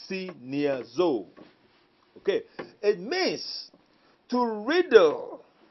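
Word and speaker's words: σινιάζω: the greek it's so take the pronunciation as it comes see near zou okay it means to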